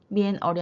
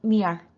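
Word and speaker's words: 面儿: 거기에다가 얼화 기법을 써서 읽으실 때 빈 얼이 아니라 삐알, 미엔 얼이 아니라 n이 묵음 처리되면서 미알 이렇게 표현이 되고 있고요.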